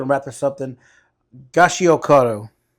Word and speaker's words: Gachiakuta: Gachiakuta, right? Am I saying it right? The anime? No, it's Gachiakuta. Gachiakuta.